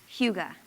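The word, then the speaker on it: hygge: There's a Danish word spelled hy gge but pronounced huga.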